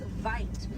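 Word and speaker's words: wyd: Original word for white rhino was vite. Vite means wide in Afrikaans, but over time it was misheard and mispronounced, and it turned into the white rhino.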